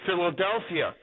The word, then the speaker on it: Philadelphia: So in the Greek, when you put two letters together, like the P and the H, it sounds like an F.